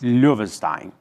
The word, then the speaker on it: Loewenstein: Do Brasil sob Vargas, do jurista alemão Karl Lovenstein. Como é que fala a pronúncia boa em alemão? Lovenstein. Lovenstein. Ih, meu alemão tá péssimo aqui. 84 anos depois. Löwenstein.